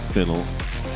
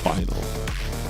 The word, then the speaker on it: Phynal: Not that anyone cares or wants to know that, but that's what it is and that's how it's pronounced. Not finel, not phenal, final.